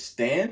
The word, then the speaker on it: Stan: name um sebastian yeah is it stan or stan it's stan yeah um i've been saying